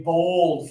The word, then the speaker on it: bold: That is a bold flavor. Okay. So, for this one again, like with war, we're gonna put up one finger, touch your nose and your lip, pull them down.